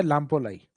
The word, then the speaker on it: लापोलाई: कुछ जगह मैं को साइलेंट कर देते हैं। लापोलाई भी बोल देते हैं। बाकी सही नाम है लापोलाई।